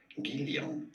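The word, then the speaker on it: Guylian: In French, it is said as Guillon.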